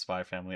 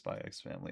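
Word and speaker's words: Spy × Family: It it is just pronounced spy family. I knew that. I Sometimes I just read it as Spyx family.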